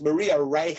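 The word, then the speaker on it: Maria Reiche: and I think her name is yeah the pronunciation she's she was German so it's Maria rea R okay yeah there you go so it's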